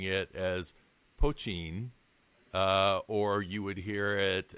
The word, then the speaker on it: poitín: would hear it as poitín, or I heard all sorts of different variations on it. Absolutely. But you actually put kind of a T sound on it instead of a CH sound.